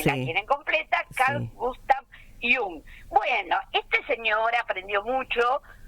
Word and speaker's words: Jung: apellido no es inglés, muchos le dicen yang, no hay otro psicólogo de la historia que es Yang, porque se escribe como joven en inglés. Este no, chicos, este como se lee lo pronuncian.